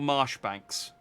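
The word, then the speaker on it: Marjoribanks: controller uh it's pronounced Chom Ley fan Shore Marsh Banks is how you pronounce those three words I was like Chumley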